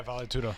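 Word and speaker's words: vale tudo: fight um in a valet tudo is that how you pronounce it babe yeah Val tudo uh tournament and he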